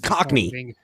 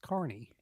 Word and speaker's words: cockney: carney's rhyming slang as cockney it's carney no it's cockney no i don't think so what it what are you looking at it's not it's it looks like that but it's not pronounced that oh you sure i'm